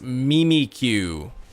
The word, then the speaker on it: Mimikyu: mimiq the Galler region sticker book says mimikyu is pronounced mimiku I want to see a picture of that I want to see a picture Mimi Q that's that's terrible I think I have the Galler book actually I have this one the handbook to the Galler region stats and facts on 400 Pokemon I'll I'll I'll see what this one says this one says mimiq I guess it is pronounced Mimi QQ that's horrible I'm not